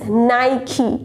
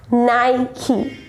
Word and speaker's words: Nike: It's a well-known company for shoes and all, and the correct pronunciation of this brand is Nike. Repeat after me. Yes, Nike.